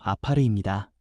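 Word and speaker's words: עפר: 먼저 여기서 흙이라는 말은 히브리어 발음으로 아파르입니다.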